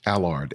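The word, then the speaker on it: Allard: say the name one more time William Albert a lard a lard is spelled a ll AR D okay so go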